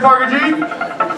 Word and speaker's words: Parker G: I say my name is could y'all say par G par G my name is par G this